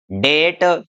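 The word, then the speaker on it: debt: तो यदि टी से पहले बी हो तो हमारा जो बी है वो क्या रहने वाला है, साइलेंट रहने वाला है। जैसे इसको बोलेंगे हम डाउट, डेट, इसको डेप्ट नहीं बोलेंगे, इसको बोलेंगे डेट, सटल, डाउटेड, डेटलेस।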